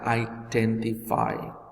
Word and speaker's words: identify: Jadi kata ini harusnya dibaca identify.